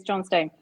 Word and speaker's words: Johnstone: I think you could just pronounce that with a bit faster. Johnston. Yeah. It's funny. More I like always called him Clark Johnston, but it's Johnstone. Like it's actually the other. It's not, is it?